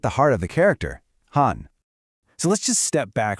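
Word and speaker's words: 汉: This brings us to our next character, Han, pronounced Han. It's that sharp fourth tone again.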